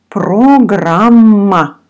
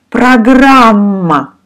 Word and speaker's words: программа: Программа. We pronounce O like A. Программа. Программа. So all vowels in this word sound like A.